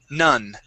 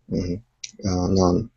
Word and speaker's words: nun: word nun okay you had said non non so adding an own sound to it the word is n nun nun okay good let's go